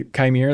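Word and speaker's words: Qimir: So they had that weird line where the stranger guy, Chimere, that's how you pronounce his name.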